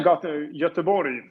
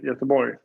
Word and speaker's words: Göteborg: Is that how you pronounce it? Yeah, Göteborg. Göteborg. It's probably if you're local, but Okay. we shouldn't make fun of how people talk. So I say Göteborg.